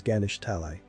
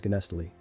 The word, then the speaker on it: Ganesh Talai: Finding the places, he sees Ganesh Talai. Pronouncing the name of the place, he figures out that they were the same names, but he was pronouncing it wrong all of this time as Ganestali.